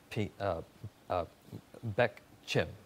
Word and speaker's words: Pich Chim: Shakima DePrince and Marine Corps recruiter and Sergeant Pich Chim. Is that the way I pronounce it?